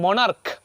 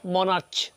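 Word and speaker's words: monarch: যেমন এক্সাম্পল দিয়েছি মনার্ক, মনার্ক। ওকে, এই যে এখানে মনার্কের উচ্চারণ কী হয়েছে? ক হয়েছে, নট মনার্চ, তাহলে এস যোগ করেছি।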